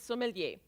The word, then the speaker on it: sommelier: all right number two the sommelier that's how you pronounce it sommelier does the sommelier have